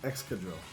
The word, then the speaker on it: Excadrill: Excadrill.